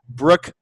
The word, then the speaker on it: Brooke: No, it's a silent E on Brooke, which everyone forgets when they send me emails.